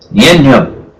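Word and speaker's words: Nien Nunb: Nienyo. And that is how you pronounce it.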